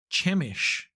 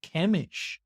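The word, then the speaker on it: Chemish: brother chamish or sheemish I'm going to say chamish though it's chish kemish it is kemish so the pronouncing guide in the the back of the book of M describes as kemish so Kish so he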